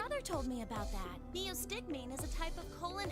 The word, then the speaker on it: neostigmine: That's how you pronounce it. Neostigmine.